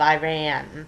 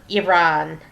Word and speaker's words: Iran: That's the proper way to pronounce it as Iran. I'll never get used to it because when I was a kid, people didn't care how the names of countries were pronounced. They just pronounced it any old way they felt like. And everybody said Iran. So, I learned to say Iran, but it's really Iran. That's how Iranians pronounce it is Iran.